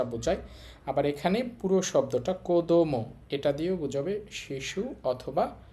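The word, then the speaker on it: 子供: দেখেন এখানে কি লেখা আছে, আমরা দেখতে পাচ্ছি শুরুতে কাঞ্জিটা আছে, তাহলে এই কাঞ্জির এখানে উচ্চারণ হবে কো। তারপর আছে দো মো, একত্রে বললে কোদোমো।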